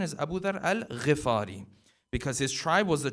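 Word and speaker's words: Abu Dharr al-Ghifari: many times people will pronounce the name as abu dharr al rafari the correct pronunciation is abu dharr al-rifari because his tribe was the tribe of the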